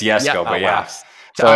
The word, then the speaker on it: Jesko: Is that how you pronounce it? It's Jesko, but yeah.